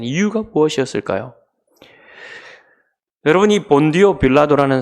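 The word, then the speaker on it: Pontius Pilatus: 여러분이 본디오 빌라도라는 사람은 원래 발음으로 하면 폴티우스 필라투스라는 사람인데이 사람은 어 주후 26년부터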